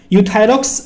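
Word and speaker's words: Euthyrox: है यूथस यहां पे गाइस ई साइलेंट है सिर्फ यू पढ़ते हैं हम यूथायरॉक्स 100 के नाम से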